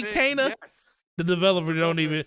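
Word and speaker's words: Kena: It is Kana, Bridge of Spirits, not Kina, Bridge of Spirits.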